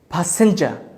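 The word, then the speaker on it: passenger: আমরা বলি হচ্ছে প্যাসেঞ্জার, কিন্তু এটার প্রনাউন্সিয়েশনটা হচ্ছে ফি ফর ফা, যেহেতু পি প্রথমেই বসে, প্যাসেঞ্জার, প্যাসেঞ্জার, প্যাসেঞ্জার। আর এর উচ্চারণ আমরা যেহেতু করবো না, বলে দিয়েছি, শেষে থাকলে আর এর উচ্চারণ হবে না। সাইলেন্ট হয়ে যাবে।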